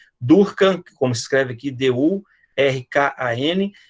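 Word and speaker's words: Durkan: E o mais sensitivo, né, o mais, digamos assim, específico, é o teste de Durkheim. Durkheim, como se escreve aqui, D-U-R-K-A-N, é uma compressão, uma digitopressão por alguns segundos desse nervo, e você tem uma resposta, tá?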